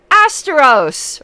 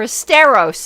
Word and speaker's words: Esteros: CR there we go Astros or esteros excuse me I mispronounced the steros like Fred Astaire though it's spelled like Astros Tyler Hobbs approved we